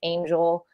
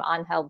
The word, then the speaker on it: Angel: confusion around my name it's just pronounced Angel um I you're on for the rest of our lives now I am Mexican my cousins do like like my cousins and best friends will just like you know like a nickname anhel pronounce it the Spanish way but like my mom doesn't call me anhel she just calls me angel so I confused a